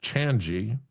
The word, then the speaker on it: Changi: I guess it's pronounced Changi Airport.